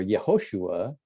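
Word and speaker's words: Yehoshua: it means in hebrew but joshua or yahushua that's how you pronounce it in hebrew means the lord saves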